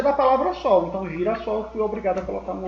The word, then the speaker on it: girassol: que entender que eu tenho duas palavras perto Girassol se eu tirar aqui essa ligação até para